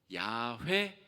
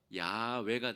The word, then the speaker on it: 야훼: 그래서 찾아낸 이 실제와 흡사한 발음이 바로 야훼 혹은 야외가 됩니다.